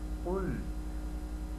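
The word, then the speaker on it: قُلْ: কুল আউযু বিরাব্বিল ফালাক। কুল, এখানে বলে রাখা ভালো, কফ, অনেকে এটাকে কাফের মতো উচ্চারণ করে, কাফ আর কফ দুইটার উচ্চারণ কিন্তু ভিন্ন।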